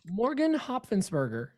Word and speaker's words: Hopfensberger: It's Hop Fence Burger. That's the way I was able to pronounce it, because otherwise I was going to butcher it.